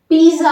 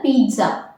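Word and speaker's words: pizza: டூ you want a பீட்சா அப்படின்னு கேட்குறப்போ இதில் கவனிச்சிங்களா, பீஸா அப்படின்னு நான் ப்ரொனவுன்ஸ் பண்ணல, பீட்சா, பீட்சா PITZA மாதிரி ப்ரொனவுன்ஸ் பண்ணுறேன். ஸோ இது வந்து ப்ரொனவுன்சியேஷன். இது வந்து பீஸா அப்படின்னு நம்ம ப்ரொனவுன்ஸ் பண்ண மாட்டோம், பீட்சா அப்படின்னு ப்ரொனவுன்ஸ் பண்ணுவோம்.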